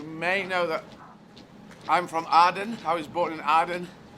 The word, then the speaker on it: Aden: I thought because I want to learn Arabic, so I thought I should pronounce it like Arabic people do and say Aden.